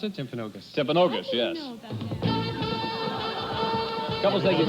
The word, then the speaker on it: Timpanogos: How do you pronounce it? Timpanogos.